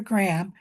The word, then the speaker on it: Gram: shouldn't know it was invented by Dr. Graham. And so when you spell it, it should be with a capital G because it's named after Dr. Graham.